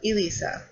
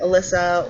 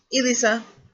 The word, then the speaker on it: Elisa: those names that people it's pronounced the way it looks literally but a lot of times the name has been used to be pronounced different ways like Alyssa or oh gosh I got if you have gotten a few times in my life so um ELISA that's how you pronounce my name um and I usually